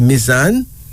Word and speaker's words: Mizan: Mizan, pronounced Mizan, meaning balance.